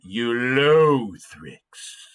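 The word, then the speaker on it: Ulothrix: almost sounds like a mean algae doesn't it you low thricks the next one we'll be examining is a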